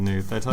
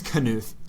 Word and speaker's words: Knuth: of my eyes so I actually think it's knuth as well that's what uh the pronunciation key says but uh have you